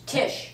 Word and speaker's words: Tish: do you go by TI T Tish Tish tish how do you spell that TI i c or sh t i